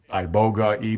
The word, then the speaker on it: iboga: That's a good topic because people um a lot of times will address as I you know and and it's pronounced ibogga ibogga.